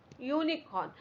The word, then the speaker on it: unicorn: inn, a flag, a unicorn. Now again here we have unicorn. So remember university, we are getting a sound of Y. Similarly for unicorn also we get a sound of Y.